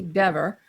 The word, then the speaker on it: Dever: In his unequivocal denial, Cox stated, I notice you did use the correct pronunciation according to Ms. Dever. You said Dever, not don't call me Dever.